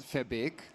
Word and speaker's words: Verbeek: Yes, so, well, it's Verbeek. So my name is Verbeek. I apparently don't even pronounce it right because it's a Dutch name. I'm German and I'm making a mess out of it, but well.